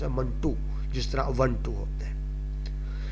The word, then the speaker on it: منٹو: اس کو ایسے منٹو جو صحیح تلفظ ہے وہ بول جاتے ہیں، صحیح تلفظ ہے منٹو، جس طرح 1-2 ہوتے ہیں.